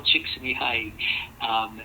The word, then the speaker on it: Csikszentmihalyi: to take a whole course on how to pronounce his name, so I'm going to say it again. Mikhail Csikszentmihalyi and Robert Vallerand are 2 people that talk a lot about how we engage with life. Csikszentmihalyi focused on flow, also wrote a book back